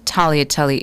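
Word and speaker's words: tagliatelle: of the diners refused to try the cricket talotate. But those who did, those who do, including me, are surprised at how good it tastes. Talia telly is your word of the day.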